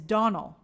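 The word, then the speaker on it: Domhnall: And Donald Gleason is Donald.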